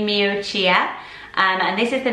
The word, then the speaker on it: Miuccia: my pronunciation of it it's Mucha Mucha nothing saying that right see I thought it would be me Oh cheer and this is the